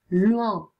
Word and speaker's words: loin: Loin, O I si legge Uan.